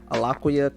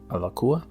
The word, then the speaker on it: Alaqua: Alaquia Cox. Okay. I may be pronouncing that wrong.